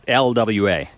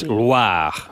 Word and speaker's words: Loire: It's not LWA. Oh, It's Loire.